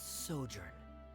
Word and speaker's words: sojourn: foreign clear uh director's osimos how do you pronounce this word let me see Ah that's sojourn it means to stay for a while this